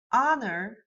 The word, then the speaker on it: honor: If you think of honor, you don't say the beginning H.